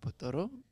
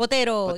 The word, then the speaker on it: Botero: Shouts out our guest spot, Botoro. Right? Botoro? Is that how you pronounce it? Botero, yeah. There we go.